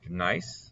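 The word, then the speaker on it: gneiss: that um we have nice i believe i'm pronouncing that right uh well there we go yeah so it's pronounced nice according to the internet all right horn fells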